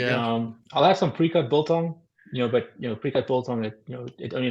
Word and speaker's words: biltong: Biltong.